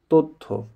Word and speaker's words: তথ্য: খেয়াল করুন, ত অ, তারপরে জ ফলা আছে থয়ের সাথে, তাই ত না হয়ে তো হলো, তথ্য।